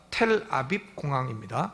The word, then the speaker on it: 텔아비브: 텔아비브 부를 붙이지만 그게 비읍은 묵음으로 하면 되니까 텔아비브 공항입니다.